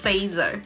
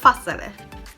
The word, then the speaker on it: Fazer: 子 Fassele。OK，好，我之前一直都以为它读作 Fazer，然后我老公就说，不是啦，这个芬兰文叫做 Fassele。